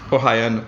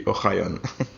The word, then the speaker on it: Ohayon: Ohayon. That would be in English, but in Hebrew it would be Ohayon.